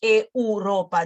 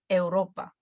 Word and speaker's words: Europa: So we're not going to be pronouncing all of them all at once. Europa, no, Europa. The weak ones are going to be shorter.